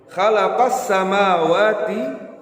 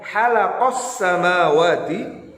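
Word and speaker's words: خَلَقَ السَّمَاوَاتِ: Apa maksudnya huruf yang seharusnya dengan huruf hooh namun Kalian membaca dengan huruf dengan huruf H Kalapas samawati Wal namun kalian membacanya halaqah samawati Wal ardhi dan ini tidak tidak boleh hai lalu ada kesalahan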